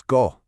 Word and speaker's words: co: And our second block is go, pronounced so.